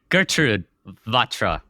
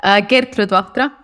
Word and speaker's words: Gertrud Vahtra: Gertrud Vahtra. Nope, that wasn't even It's close enough. How do you pronounce it? Gertrud Vahtra.